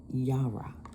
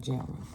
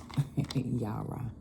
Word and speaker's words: Yara: Okay, that's how you pronounce it. Yara. Not Jara. Yara. The letter sound J.